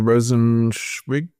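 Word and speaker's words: Rosenzweig: Yes, I always recommend Phil Rosenwig, I think is how you pronounce his name.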